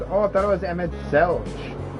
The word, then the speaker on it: Emet-Selch: Please, Emet-Selch. Please. Selch? Oh, I thought it was Emet-Selch. It's not pronounced Emet-Selch, but Emet-Selch. So the H is silent.